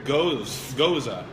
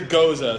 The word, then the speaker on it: Gose: And anyway, this is a Goza, so Gose, whereas goose is like a Gueuze or something crazy.